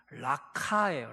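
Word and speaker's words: Raca: 원래 라가는 정확한 발음으로 하자면 목에 가래가 좀 끓어야 돼요. 정확하게 라카예요. 라카 이런 소리예요.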